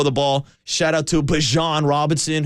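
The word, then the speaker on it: Bijan: ball shout out to bajon Robinson who apparently doesn't say his name like dejon mustard bejan bejan doesn't matter we're taking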